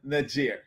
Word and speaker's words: Niger: Antoinette to Johnny ALU uh Jamaican living in Niger welcome Antoinette hopefully I got the name of the country pronounced like how they pronounce it there and